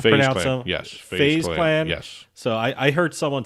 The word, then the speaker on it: FaZe Clan: Is that how you pronounce them? Yes. FaZe Clan?